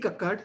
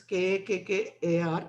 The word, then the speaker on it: Kakkar: Munish Kakkad versus Nithi Kakkad, though it is Kakkar. I'm told that it is pronounced as Kakkad. It's a North Indian name.